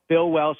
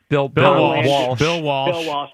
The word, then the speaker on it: Bill Walsh: So I have Bill Belichick and Tom Brady, Lombardi and Bart Starr, Chuck Noll and Terry Bradshaw, Bill Welsh and Joe Montana. Bill Walsh. My bad. Mispronunciation.